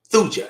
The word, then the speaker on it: Thuja: Thuja. Yeah, that's spelled like that.